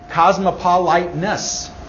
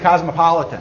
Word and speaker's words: Cosmopolitan: Cosmopoliteness magazine. Right? You've heard of it? Newsstand? Cosmopoliteness. It's also a drink, I think. Yeah? You pronounce it cosmopolitan.